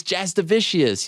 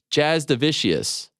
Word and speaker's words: Jasudavicius: Jasudavicius. Yeah, it's a tough one. Jasudavicius. People think it's like vicious because I've been running with it because anyone that just makes an effort, good enough.